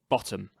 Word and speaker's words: bottom: In trochaic verse, the first syllable is stressed and the second unstressed, as in the word bottom.